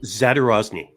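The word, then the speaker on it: Zadorozny: I'm going to say his last name wrong, so please correct me. Zadarozny.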